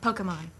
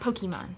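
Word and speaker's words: Pokémon: was like you know it's Pokemon not pok-a-mon. I was saying pok-a-mon.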